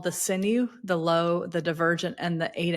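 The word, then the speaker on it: luo: Now, y'all, this is spelled L UO, but pronounced low, like the opposite of high.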